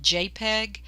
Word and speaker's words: JPEG: Now, sometimes we will have pictures, and I can tell this is a picture because it is a JPG at the end, and that's pronounced JPEG, and we say we have an image or a JPEG file.